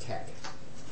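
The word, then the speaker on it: TeX: is really the Greek letter Kai so it's pronounced Tech okay and with tech you could you could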